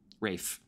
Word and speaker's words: Ralph: actors on the planet Rafe Freddie does the silent L he does the rafe cool right fine I did not know that it was Ralph fianus and my from